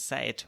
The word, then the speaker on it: seid: This is a common mistake that native speakers make, because seit with a D and seit with a T are pronounced in the same way.